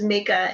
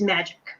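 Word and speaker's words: Majka: i have to so my last name is make a m-a-j-k-a it's a polish like russian polish name i have to admit the my most favorite mispronunciation of it is magic so being common it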